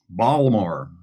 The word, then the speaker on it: Baltimore: in baltimore baltimore yeah you pronounce the t i thought you weren't supposed to do that if you're local i'm not i'm a transplant from elsewhere so so i uh i i enunciate every letter so we're going to